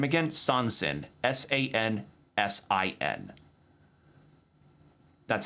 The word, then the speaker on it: Sansin: Sansin. S-A-N-S-I-N. That's how it's spelled.